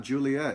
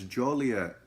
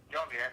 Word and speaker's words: Joliet: It's not Juliet. It's Joliet Uh-huh. with an O. Joliet. Yeah, that's fine. Joliet.